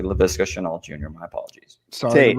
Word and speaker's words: Laviska Shenault: I will pronounce the guy's name correctly. Laviska Shenault Jr.